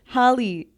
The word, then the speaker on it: Halle: say your name Holly how do you say it Holly Holly okay that's how I said